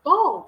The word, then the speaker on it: bald: bald bald bold bald I heard bold when he said yeah yeah I'm like it's bald cuz I'm like did I